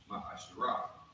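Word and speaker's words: מעשר: It means 10th in Hebrew, and it's pronounced Ma'asherah.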